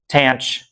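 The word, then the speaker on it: tanh: By the way, the pronunciation of these is not entirely standardized, but I like cinch, cosh, tanch, seach, and coseach, and I guess the only weird one is cough.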